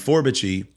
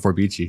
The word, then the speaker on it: Forbiche: And Forbiche was 100%, you know, on my own. I had, you know, you're the first person I've heard pronounced it the correct way. For everybody calls it Forbichi.